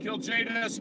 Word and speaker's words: Kiljaedas: and just to clarify that's kill to the J to the docs but oh I love